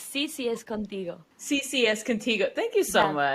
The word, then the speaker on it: CCS Contigo: Like you have a new book called CS Contigo, correct? Is that the correct pronunciation? Almost, yes. It's CCS Contigo.